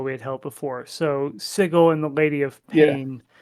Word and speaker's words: Sigil: but the place that we are in is sigle uh don't get it wrong they do make